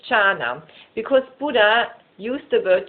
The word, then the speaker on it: jhana: In Pali, dhyana is pronounced as jhana.